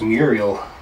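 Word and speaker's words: Muiral: It's pronounced Muriel.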